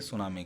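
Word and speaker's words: tsunami: पे नहीं रहता तब भी काम होता, लेकिन स्पेलिंग टी होती है सुनामी की, ठीक है ना।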